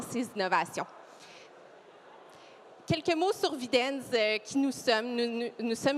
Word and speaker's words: Videns: Videns, c'est mieux prononcé.